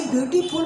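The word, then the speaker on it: beautiful: English में कहीं भी एफ आता है और उसका उच्चारण फ होगा, तो फ हिंदी का फ नहीं होगा, फ नहीं, फल वाला फ नहीं, बल्कि ये अरबी लफ्ज है। क्या हो जाएगा, फ।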